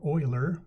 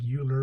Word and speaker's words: Euler: that it's base e e stands for Euler looks like Euler but he pronounces it Euler he came up with